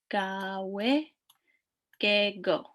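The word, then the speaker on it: gaawiin gegoo: So gawe, gawe, gego.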